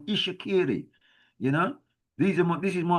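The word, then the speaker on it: Itsekiri: Look, you see this TS is pronounced not itakiri, it's called Ishakiri.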